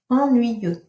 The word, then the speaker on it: ennuyeux: And this boring word, ennuyeux, you don't pronounce the X, and it can remind you a bit of the I, you know, it's Y-E-U-X, so it's the same ending, ennuyeux.